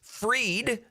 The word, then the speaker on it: Fried: It's pronounced Fried.